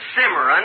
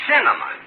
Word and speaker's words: cinnamon: Look, it isn't cimarron, it's cinnamon.